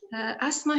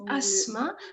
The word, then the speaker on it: asthma: Asthma here, the pronunciation is asthma, but it can be pronounced asthma when it comes to American English. Huh? Asthma is American and asthma is British.